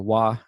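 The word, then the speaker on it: 和: there so harmony or wah as it's pronounced in japanese is fundamental it's like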